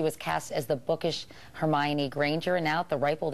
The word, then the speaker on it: Hermione: I know I've had so many different interpretations like oh um herion uh hermy Juan but now I guess now I guess because of the movie everyone knows how to say her name and Hermione like Emma Watson